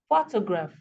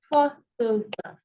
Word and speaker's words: photograph: have an example here photograph photograph now as you can see this word has three syllables here photograph okay but the first syllable is um emphasized more than the others photograph photograph now don't